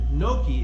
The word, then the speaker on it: gnocchi: place of traditional dumplings nudie is spelled g-n-u-d-i and noki is spelled g-n-o-c-c-h-i so i call the dumplings